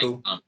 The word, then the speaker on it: M'Baku: Winston Duke's Mabaku's role might Umbaku, yeah, as they pronounce it in the movie.